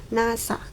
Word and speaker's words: NASA: Acronyms is words from the initial letter of a process pronounced as a word.